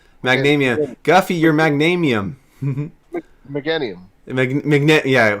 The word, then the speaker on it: Meganium: Magnanium. Magnanium. Guffy, you're Magnanium. Meganium.